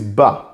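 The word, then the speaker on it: בא: handwriting another word is bah bet with comets is pronounced as bah the last Aleph doesn't have a vowel so it's silent bah means comes or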